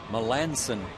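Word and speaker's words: Melancon: And I need to correct my pronunciation. The guy who's going to finish, try to finish for the Astros, it's Mark Melinsson. M E L A N C O N. Melansen. Correct. And again, Melansson will try to finish.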